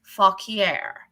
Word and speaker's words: Fauquier: It is spelled FAUQUIER. It is pronounced Fauquier.